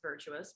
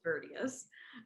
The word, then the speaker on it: Virtius: Some people might pronounce it as Virtuous, but it's Virtius.